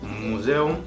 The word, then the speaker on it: Museum: Hay algunas excepciones en donde con el diftongo EU, este diftongo se aísla por sílabas. Es decir, el museo, la palabra museo, das Museum, se dividiría de la siguiente forma. Das, el artículo, y luego sílabas. Museum. La E y la U están separadas en 2 sílabas diferentes.